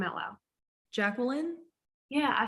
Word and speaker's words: Jacqueline: Jacqueline? Yeah, I say Jacqueline. Oh, Yeah, mine is like 3 syllables technically.